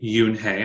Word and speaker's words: Yoon-hae: I think this book is cool because it not only teaches us how to pronounce the main character's name, Yoon-hae.